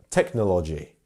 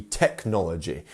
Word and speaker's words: technology: Some people may pronounce this technology, which no, it should be technology. We should be having the second syllable as our stress.